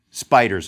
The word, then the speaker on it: SPDR: traded ETF was the Standard and Poor's 500 depository receipt these SPDRs pronounced spiders of course appeared in